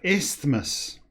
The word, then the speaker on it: isthmus: Darien of isthmus the we pronounce that a bit better Darien of isthmus like Christmas the through passage as